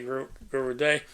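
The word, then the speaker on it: Guru Dai: That's D-A-I. I would have pronounced that Die, but they say Guru Day.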